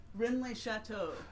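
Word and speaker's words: Rennes-le-Château: The first one is called the Maravvenian Mythos and the Mystery of How do you pronounce that? Renlay Chateau.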